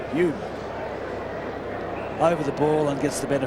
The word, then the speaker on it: Hume: Home? Hume. Hume.